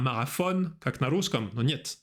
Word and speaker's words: marathon: un marathon l'année dernière внимание на произношение маратончани говорят марафон un marathon fran marathon super envoyé des cartes postales à tes amis tu as envoyé des cartes postales à tes amis.